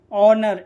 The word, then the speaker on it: honour: ठीक है, तो याद रखिए, ओ से पहले एच आए तो एच हमेशा साइलेंट होता है। जैसे ऑनर, HONOUR, ऑनर में ओ से पहले क्या आ रहा है?